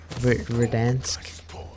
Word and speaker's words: Verdansk: Verdansk, right?